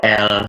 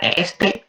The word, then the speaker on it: est: Il atau el s'appelle. Nah, kalau yang ini il atau l e. Ini bacanya e ya, bukan est atau bukan establish itu bukan.